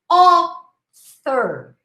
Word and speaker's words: author: Author, author, not author, okay? Author, author.